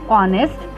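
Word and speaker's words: honest: होता है, जैसे एन ऑनेस्ट, an hour, N hotel, an honour. इसके आगे एन लगा लेकिन स्टार्टिंग देखिए उसका एच से है, लेकिन उसमें ह जो वर्ड है वो साइलेंट हो जाता है, इसी के वजह से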